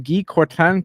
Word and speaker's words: Guy Courtin: We're going to try to do it the French way. I'd like to welcome Guy Courtin to the show.